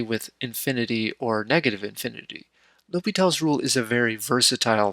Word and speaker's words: l'Hôpital: accents on letters now it might be spelled with an s but it's still pronounced l'hopital without going into all